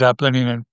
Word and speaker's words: Apollinian: The Apollinian being Nietzsche's pronunciation and spelling, by the way. Most people say it Apollonian, but I'll use Apollinian in recognition of Nietzsche.